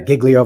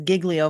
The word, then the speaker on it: Giglio: We've got a Giglio violation. Now, this is critical evidence in the case. Sorry, it makes me laugh every time he says Giglio violation, because I I feel like it should